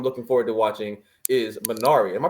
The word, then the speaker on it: Minari: But the new movie I'm looking forward to watching is Minari. Am I pronouncing that correctly?